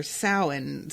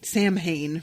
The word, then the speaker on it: Samhain: is called sammy for sauhan sammy samhain for those who pronounce it incorrectly um and he watches